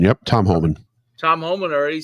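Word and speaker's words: Tom Homan: Tom Holman. Yep, Tom Holman.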